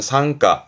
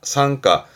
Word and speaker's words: 参加: 발음은 상가, 상가, 참가의 가짜.